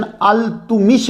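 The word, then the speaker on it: इल्तुतमिश: और यह सुल्तान शमसुद्दीन अल-तुमिश के गुलाम थे। यह प्रोनाउंसिएशन अल-तुमिश है।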